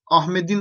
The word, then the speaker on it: Ahmet'in: başlayan bir ek getirdin ahmetin Ahmet'in ayakkabısı yırtılmış okurken dli okuyabilirsin ona bir şey yok Ahmedin okuyabilirsin ama yazarken burada işte Ahmet